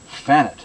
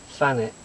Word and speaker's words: Thanet: This is a very talented individual who comes from up the road in, you would say, Thanet, is that right? Thanet, yeah, that's the way that locally it's pronounced, yeah.